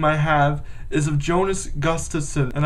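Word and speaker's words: Gustavsson: have is of Jonas Gustafson and I still can't say his name properly like Don Cherry Jonas gust of sun there we go um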